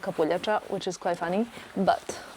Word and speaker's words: kapuljača: Look kapuljača. No, Capua.